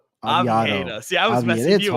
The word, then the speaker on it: Oviedo: Johan Aviado. Did I pronounce that right? Oviedo.